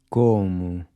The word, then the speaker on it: como: Como. This is a closed O. Como. Notice how closed your mouth is when you say the co in como.